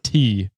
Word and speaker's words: Shant: Meg says, I recently met someone whose name is spelled Shant with a silent T. LOL. So it's SHAWNT.